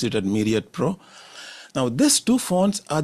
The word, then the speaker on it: Myriad Pro: I pronounce it as Myriad Pro.